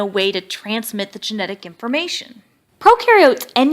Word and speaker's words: prokaryote: do have membrane-bound organelles, and prokaryote, the pro rhymes with no, and they do not have membrane-bound organelles.